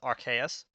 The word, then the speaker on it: Arceus: I believe that that's how like the official pronunciation is Arceus.